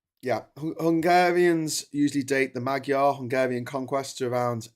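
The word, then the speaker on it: Magyar: It's written Magua, but I'm sure it's not pronounced that way. Maga pronunciation maga. Okay, it is maga.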